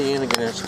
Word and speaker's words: Antigonish: Wait, oh yeah, so how do you pronounce Antigonish? Antigonish. Antigonish. Yeah, So Antigonish. that's right-ish, right? Right. Oh, okay. yeah, you were right.